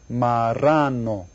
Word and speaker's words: marrano: Well, how many syllables are there in the word marrano? Everybody say it? Marrano. And if you look right down here, see it's got the double R thing? That's where you go R.